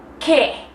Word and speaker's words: Qué: ¿Qué? What? Oh my gosh, that is spelled with a Q and a U, and you're telling me it sounds like the letter K in English?